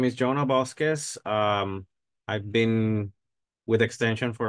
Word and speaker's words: Bosques: Yeah, Bosques.